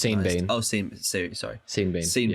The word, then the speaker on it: Sean Bean: It's pronounced Sean Bean.